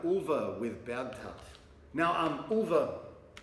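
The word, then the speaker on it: Ulver: Now, um, ulva is the Norwegian word for wolves, except I've heard Norwegians, including, you know, people from the band, and Roger pronounce it as Ulva.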